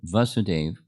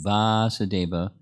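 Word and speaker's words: Vāsudeva: That is the significance of the word Vasudeva, which means the son of Vasudeva. The son takes on the long A or long syllable vowel.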